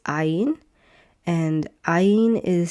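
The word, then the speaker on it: עין: It's ain. And ain is silent.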